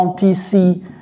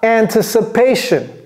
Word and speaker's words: anticipation: Ça s'écrit exactement de la même façon, mais se prononce différemment. Anticipation. Comment prononce-t-on ça? Anticipation.